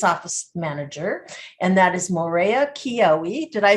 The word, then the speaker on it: Maurea Kyioi: with the business office manager, and that is Maurea Kyioi.